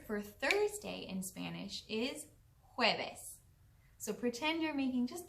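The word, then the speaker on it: jueves: too the word for thursday in spanish is hueves so pretend you're making just the littlest bit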